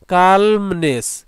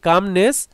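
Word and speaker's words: calmness: মানে আসলেই, like the কালমনেস, এখানে এলটা উচ্চারণ করা কঠিন হয় এজন্য আমরা এটাকে কামনেস বলি।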